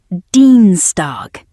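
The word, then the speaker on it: Dienstag: Tuesday pronounced Deanstar with a long e sound in the first syllable.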